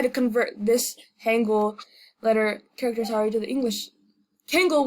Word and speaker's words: 한글: So reading Hangul is actually easy. Hangul. I'm sorry. I pronounced it like an American.